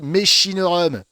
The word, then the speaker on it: mechinorum: Alors ça se dit Mechinorum, car certes, en latin, le che n'existe pas et se prononce que, mais ici, cela fait référence à Patrick et Annie Méchin qui ont découvert les ossements qui ont servi à déterminer la nouvelle espèce dans le Var.